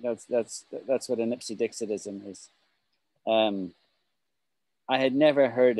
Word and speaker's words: Ipsedixitism: Ipsedixitism. Ipsedixitism. It's a very hard word to say. Ipsedixitism. Six syllables.